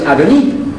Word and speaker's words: Adoni: And I found that word was Adoni.